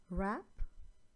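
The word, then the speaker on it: wrap: W is silent here, as in rap, wrong.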